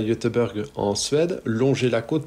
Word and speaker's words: Göteborg: grosse ville de Suède, qui se prononce effectivement Göteborg.